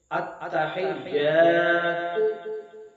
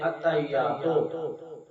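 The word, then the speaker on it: التحيات: پڑھتے ہیں۔ اسی طرح التحیات، لیکن لوگ پڑھتے ہیں اتحیاتو، تو جب تو پڑھ رہے ہوتے ہیں تو تے کے پیش کے بعد واو کی ایک شکل بنا رہے ہوتے ہیں، جو کہ تلفظ میں تے کے بعد واو نہیں ہے۔ اسی طرح ناظرین للہ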